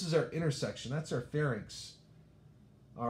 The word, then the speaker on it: pharynx: So it looks like pharynx. It's actually pronounced pharynx, like don't play dirty, play fair at the rinks, fair rinks, right?